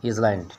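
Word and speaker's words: island: तो वो दिया है द वॉन्डरिंग आइलैंड, ठीक है। इसको आइलैंड भी पढ़ सकते हो, इसमें साइलेंट रहता है।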